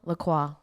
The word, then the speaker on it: Lacroix: name is christian the hold on lacroix that's how you say it but it spelled like la croix like the drink um and it's christian